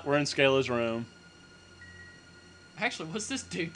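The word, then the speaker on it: Schala: overanalyzing I guess so Scala don't do it my girlfriend says satula somehow or another she gets satula out of that huh when she pronounces scala's name she says satula wait who who says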